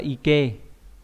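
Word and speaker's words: 池: Phần bên phải là cái phần bên phần chữ tha này, thì trì này đọc là ike.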